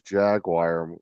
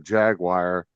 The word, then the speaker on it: Jaguar: be marketed for the Jaguar, and wanted to be marketed for the Come other on, car, but say they were the the name. same exact. Jaguar. Not Jaguar. Jaguar.